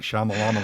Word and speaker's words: Shyamalan: and you know uh they they m night shyamalan yeah that's how you say it but no